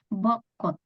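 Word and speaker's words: 벚꽃: Jadi dua-duanya dibaca T biasa. Jadi bukan dibaca J, bukan dibaca ca, tapi langsung bokot.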